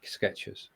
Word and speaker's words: Skechers: It is, because we all pronounce it Skechers as though there is a T there.